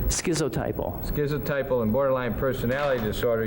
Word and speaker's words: schizotypal: This schizotypical, how do you say that? Schizotypal? Hey. Schizotypal.